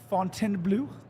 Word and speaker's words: Fontainebleau: Fontainebleau. oh, Okay, give me your vest. Fontainebleau? Okay. Fontainebleau. I'm from upstate New York. There's more cows than people. Fontainebleau.